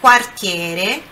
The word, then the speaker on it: quartiere: Quando a pronúncia aqui, quando nós temos o QU ou o GU no italiano, é sempre aquele U é sempre pronunciado. Então, nesse caso aqui, ó, é quartiere, ok?